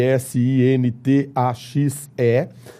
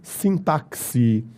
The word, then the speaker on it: sintaxe: você pode pronunciar também sintaxi. Existem formas variantes para pronúncia. Então o x aí desta palavra pode ser lido com som de c ou com o som de quis. Então você pode ler sintasse ou você pode ler sintaxe.